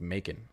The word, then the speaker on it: Macon: I think it's Macon. I think that's how it's pronounced, like bacon.